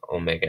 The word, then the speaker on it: omega: Here, we're going to be pronouncing this as an O, and we'll be pronouncing omega as an aw, almost like a Bronx or English, or I guess I should say British English vowel.